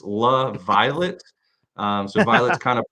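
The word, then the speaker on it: LaViolette: La purplish because it's La Violet um so Violet's kind of purplish but it's pronounced la laviolet la sounds like a hockey player yeah it sounds like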